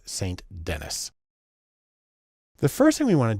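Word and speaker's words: St. Denis: though her name looks like it should be pronounced Ruth sandini she's American so it's Saint Dennis the first thing we want to do is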